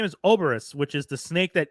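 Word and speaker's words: Ouroboros: thought it was or I thought it was or Boris I thought that's how you pronounce but I could be wrong I'm don't listen to on pronunciation no you are right I forgot it is Ora Boris thank you uh so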